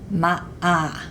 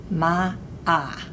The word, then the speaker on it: Ma'a: Ma'a. Remember that the apostrophe means a brief moment of silence. Ma'a.